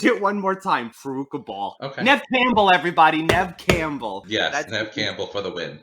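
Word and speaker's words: Neve Campbell: four corners to punish you for saying her name wrong okay i'm gonna attempt it one more time everybody nev campbell yeah campbell for the win the other thing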